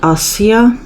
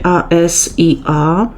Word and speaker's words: asia: s i a i nie czyta się Asia tak jak Imię polskie Asia tylko asja i i ono oznacza rzecz i nigdy w języku fińskim się nie nie czyta tego si i jako si ale no i asja